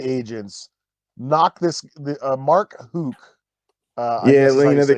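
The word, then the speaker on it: Houck: like 25 FBI agents knock this uh Mark Hooke uh yeah you know the cancer culture fear-mongering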